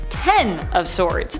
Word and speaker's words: X of Swords: Technically, it's pronounced Ten of Swords. This is because the name of the event is in reference to the tarot card of the same name.